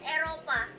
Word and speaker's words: Eropa: In Indonesia, we call it Eropa.